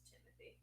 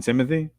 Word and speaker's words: Timothée: I don't think it's really Timothée. I think if you pronounce it in French, maybe it is, but he just says Timothy. He says Timothy? Yeah. He just tries to make it, simple for everyone.